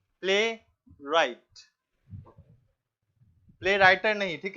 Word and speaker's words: playwright: Play राइट है, WRIGHT।